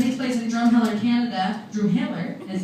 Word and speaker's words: Drumheller: Drumheller is how it's correctly pronounced.